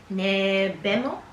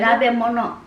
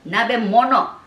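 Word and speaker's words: nabemono: Nebemo? Nebimo? Nabemo? How do you call it? How do you say hot pot in Japanese? Nabimo? Nabemo? Nabe mono. I was so wrong. Nabe memo? Nabe mono.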